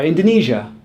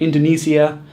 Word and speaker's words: Indonesia: Same is true for Russia, Malaysia, or Indonesia. Not Russia, not Indonesia, and not Malaysia.